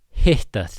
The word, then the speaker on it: hitta: Gaman að hittast þig. Very straightforward. Gaman að hitta. Again, two T's in a row. We got that pre-aspiration.